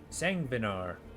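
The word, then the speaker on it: Sanguinar: Savignar? Interesting. Let's see what we got. Oh, hey, the bleed crossbow. Nice. Sangvinar. That's how you pronounce that.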